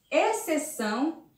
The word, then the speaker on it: exceção: encontramos o x com som de dois ésses observe lá exceto excelente exceção e excesso e observe aqui que eu retiro o x e eu coloco os dois ésses também não vai mudar a pronúncia da palavra e eu vou conseguir ler espeço excelente esses são e esperto mas a grafia estará errada porque essas palavras são escritas com x mas tem o som de ss vamos ver